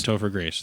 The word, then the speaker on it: Topher Grace: his name Topher you said right toer Grace Topher Grace thank you they have Mr Grace come in